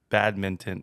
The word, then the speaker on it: badminton: So the N you have to like actually pronounce.